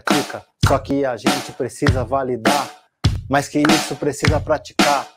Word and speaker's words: validar: e uma variação proparoxítona começando pela oxítona né que a sílaba tônica é a última validar é validar praticar ir aí eu